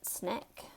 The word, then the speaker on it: SNCC: We pronounced it SNCC, S-N-I-C-K, working on the idea of one man, one vote.